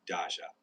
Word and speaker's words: Dacia: D A C I A You pronounce it like Dasha with a soft J sound.